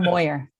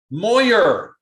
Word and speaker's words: Moir: public setting your last name why don't you pronounce your last name so i don't know thank you um it's moyer moyer of course scottish what i was gonna say